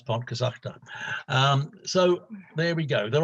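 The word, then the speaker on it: Pontcysyllte: So we've learned to pronounce Pontcysachta.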